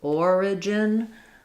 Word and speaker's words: origin: Versus origin, we don't drop that middle, the sound after the R, and it's 3 syllables. So you have first syllable stress again. Origin. Where you'll have more reduction there is in the gin syllable, almost no vowel there. So that sounds like origin.